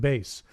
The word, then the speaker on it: bass: exactly is a bass it's spelled like the fish but it rhymes with face can it jump really